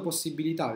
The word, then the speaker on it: possibilità: prima, ho altre 5 possibilità di distribuire l'altra croce. Se invece la metto, vediamo come mi conviene farla, forse posso copiare la frase, possibilità ovviamente è con l'accento sulla A, copy.